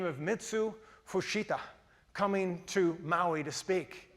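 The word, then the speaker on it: Mitsuo Fuchida: a a Japanese commander by the name of Mitsu Fushita coming to Maui to speak or actually Michael upstairs in the control room. He says, "I need to pronounce that name correctly." And it's pronounced Mitsu Fushita.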